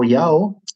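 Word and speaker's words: IAO: Uh a lot of the times that actually only says Yao as well. Mhm. It took me a while to learn how to pronounce that.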